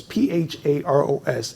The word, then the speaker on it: Pharos: No, it's Pharos, and simply so people can understand where I got that name from.